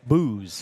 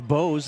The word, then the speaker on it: Bose: Booze. Booze? Is how they say it here. In some areas, it's Bose. In New Hampton, if you have that last name here, it's Bose. But here, it's Booze.